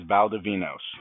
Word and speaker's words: Valdovinos: So, of course, and then my last name is Valdovinos.